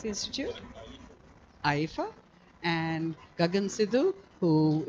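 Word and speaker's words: IEEFA: Sorry, how do you pronounce the institute? AIFA, and Gagan Sidhu, who it's my pleasure to re-invite.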